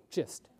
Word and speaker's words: GIST: days of this saying should we call it gist or gist okay let's do a soft G oncology is hard enough we'll do a gist so this was our